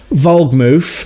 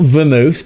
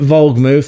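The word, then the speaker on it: Wohlgemuth: Plus, I should probably add, and I should have mentioned that already, their sporting director, Ale, not um Fabian Vogmouth, not Vermouth, but Vogmouth. That's probably poor pronunciation.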